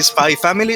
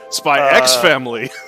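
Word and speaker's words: Spy × Family: Okay, look, buddy, this isn't like a silent G. Okay, that shit is there, and it's its own word. Do you say Spy Family or Spy Cross Family? Spy X family.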